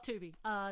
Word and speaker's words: Tubi: Does it rhyme with Scooby? Yes, it does, yeah. Yeah, it's called Tubi is what it is.